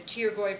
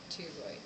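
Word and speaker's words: pterygoid: of the ethmoid the taroy processes the p is silent taroy right here the p is silent it means Wings taroy then you have ferum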